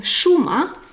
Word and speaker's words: šuma: tongue up, žena, and this is š like šuma, forest or wood, šuma, I will write it. So you see, žena. And now just place your tongue down. Šuma.